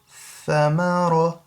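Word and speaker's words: ثَمَرَ: Thamara, thamara, that's a tha, yeah? Thamara, and that ra has to be a full mouth because it's got zabar.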